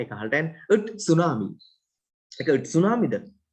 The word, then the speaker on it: tsunami: it tsunami. නැත්තම් tsunami. නැත්තම් කියන්නත් බෑ ඒක අහලට යන it tsunami. ඒක it tsunamiද? නෑ tsunami. T silent.